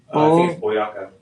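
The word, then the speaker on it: Boyacá: have your BOA Boa, how do you say that? Boyaka. Boaka.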